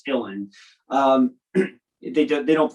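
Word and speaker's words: uilleann: known as illin bagpipes now illin is spelled u-i-l-l-e-a-n-n which looks like julian but it's irish so it's illin um they don't pronounce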